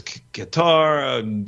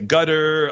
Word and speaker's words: Qatar: It's Qatar. I heard some people say gutter.